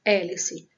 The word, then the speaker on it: hélice: Outro exemplo, hélice. Nós temos 6 letras e apenas 5 fonemas, porque o H não tem som.